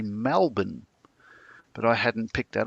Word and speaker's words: Melbourne: My friend picked that I was originally from Melbourne because apparently people from Melbourne don't say Melbourne, they say Melbourne.